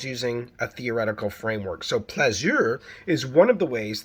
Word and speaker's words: plaisir: That's the French word for pleasure. Plaisir. I hope I'm pronouncing it correctly. I have 3 years of French. Plaisir, or plaisir, as it might be pronounced by a Parisian, is a comfortable pleasure